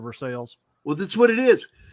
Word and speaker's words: Versailles: Central America Martha's Vineyard we've got a Versailles Missouri yes we do but they mispronounce it and they call it Versailles yeah and that just irritates me my mom used to yell at me because I would always say Versailles instead of Versailles well that's what it